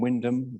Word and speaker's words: Wyndham: be on my way back from Wyndham that is how you pronounce it but they're very incredibly